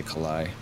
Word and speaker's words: Kalai: They pronounced it like you're going to say collide, but then you just don't say collide. You just say Kalai.